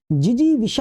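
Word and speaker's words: जिजीविषा: 170 है शुद्ध बताना है, जिजी विशा होता है, तो जिजी जीजी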